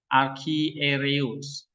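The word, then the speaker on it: ἀρχιερεύς: Nah, ini EU ini apa nih? Diftong kan? Jadi bacanya reus. U. Jadi reus. Nah, satu suara. Archiereus. Iya. Archiereus. Jadi ada R satu suku kata, Q satu suku kata,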